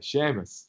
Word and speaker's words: Sheamus: Shame? Yeah. I can't pronounce the Irish name. Sheamus. I still have a hard time. We'll get you there. Sheamus. Sheamus. Big Sheamus. SH.